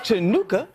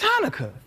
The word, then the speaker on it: Hanukkah: Turns out it's not pronounced chanuka. It's Hanukkah.